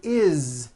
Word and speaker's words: is: we go the word is it's not is on voice it's pronounced as if it were a z is this is good